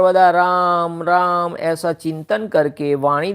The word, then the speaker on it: राम: भी सब जगह स्पेलिंग राम भगवान का RAM ही लिखा है, तो रामा नहीं हो जाता, राम ही बोलते हैं उनको।